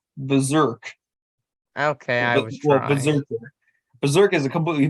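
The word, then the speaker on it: BRZRKR: his own personal comic brazer it's pronounced berserk okay berserk is a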